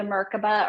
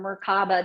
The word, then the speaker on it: Merkaba: Well, even if you look at like the Merkaba or Merkaba, depending on who you study it under, there's a couple different pronunciations.